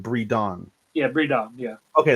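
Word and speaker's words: Bridon: Breedon. Yeah. Breedon. Yeah. Okay. The way that you were pronouncing it sounds like you're saying breeding.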